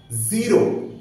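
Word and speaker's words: zero: করবো জি রো জিরো জিরোর ক্ষেত্রে এখানে যেখানে উচ্চারণ হবে জি রৌ জি ই আসবে জ আসবে ই আসবে জি রৌ জির ঔ আসবে ঔ র আসবে আর আও সাউন্ডটা আসবে আও ওই যে আও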